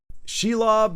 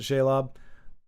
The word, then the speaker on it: Shelob: But I'm happy to concede and say Shelob. I can't guarantee I'll remember that every time, because I think for however long I pronounce it Shaylob.